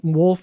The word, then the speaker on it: Wolff: find w-r-i-c-k yeah yep wolf of a double f that's right so the the front w is silent and the back f is silent my name is encapsulated